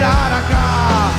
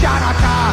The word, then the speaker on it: Hanukkah: Tell Darul Hanukkah, it's time to celebrate Hanukkah. It's not pronounced Chanukah. The C is silent in Hanukkah.